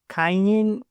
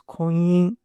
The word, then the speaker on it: Kanyin: The Madame Koi Koi folklore is back, this time with Miss Kanyin or Miss Koyin. I mean, there are both pronunciations in the movie. I guess I'll go with Miss Koyin.